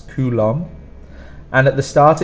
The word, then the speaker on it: coulomb: coulombs now for coulomb one of the main problems is this B at the end that we do not pronounce coulomb and at the start